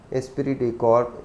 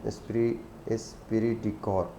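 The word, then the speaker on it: esprit de corps: Finally एस्पिरिट डी कॉर्प, इसको French word है, तो इसको जो मैंने देखा है इसका, तो यही इसका प्रोनाउंसिएशन बनता है, एस्पिरिट डी कॉर्प. Stressed building harmony and unity with in a firm.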